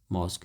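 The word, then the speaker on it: mosque: है मॉस्क एम ओ एस क्यू यू ई मॉस्क देखो इसमें ये वर्ड जो है जो रेड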